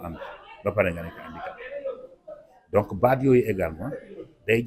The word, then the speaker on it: handicapé: naan personne pare ne handicapé ñu xamal ni le H de handicapé c'est un H aspiré c'est pas un H muet donc nit ki nga